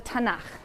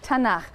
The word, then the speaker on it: Tanakh: also on that sheet Tanakh which is really the letters to and huh and they put little A's in there to make it easy to pronounce because it's hard to pronounce so tena okay and this is